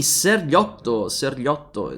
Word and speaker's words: Sergiotto: I see Sergiotto is the pronunciation if you pronounce it in Italian, otherwise it will go under the nickname Surge, as I called him last time.